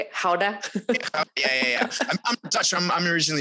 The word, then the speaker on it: Gouda: Gouda?